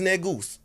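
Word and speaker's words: negus: say any g-u-s which is negoose so they ain't got to bleep that you know mean keem when i say it's any g-u-s that's how we pronounce it but it's [ __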